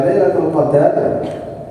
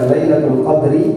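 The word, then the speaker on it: ليلة القدر: Kalau dibaca Lailatul Qadar berarti artinya malam takdir. Tapi kalau dibaca Lailatul Qadri artinya malam kemuliaan, dan dua-duanya benar.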